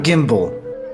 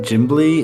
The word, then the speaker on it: Gimbly: I'm Gimbal. And what's yours? Give me a second. Picked up the wrong piece of paper. It's actually pronounced Gimbly in the native Dwarven, but you know.